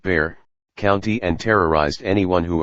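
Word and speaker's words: Bexar: the rural areas of behar pronounced bear county and terrorized anyone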